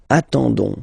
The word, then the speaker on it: attendons: ending for nous, so ons, okay, you don't pronounce the s, so you get only this on sound, okay. Attendons, nous attendons, so we'll make the link between the two, la liaison. Nous attendons, nous attendons.